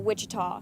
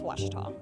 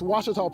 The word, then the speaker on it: Ouachita: Back in Texas, everybody pronounces it Wichita, but really, it's Ouachita. Ouachita. Ouachita. How would you pronounce it? Ouachita. Ouachita. It's Ouachita Baptist University. Get it right. It's Ouachita, people.